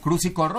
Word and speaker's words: Cruz y Corro: Pero, pues pues nada, ahorita vamos a conocer a Emilio Cruz y Corro, así se pronuncia, ¿no, Emilio?